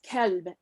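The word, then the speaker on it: كلب: And I just wanted you to correct me if I'm wrong, but the Arabic word for dog is kelb, as far as I remember studying Arabic, and it's with a K sound, whereas Galbi, which is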